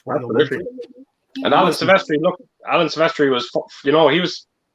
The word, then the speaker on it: Silvestri: Impossible says Alan Silvestri, is that how you pronounce his name? Silvestri? Yeah, that's right.